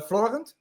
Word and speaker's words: Florent: So but you worked together with uh Florent is that how I say it correctly his name? Yeah. Yeah I call him Flo but Floren.